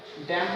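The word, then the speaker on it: damn: डैम पढ़ेंगे इसे, solemn यानी सोलेम पढ़ेंगे एक्सेट्रा, ये उदाहरण है।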